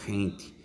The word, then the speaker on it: gente: for g g em a palavra gente a pronúncia teria hente a tia não tem início unido h e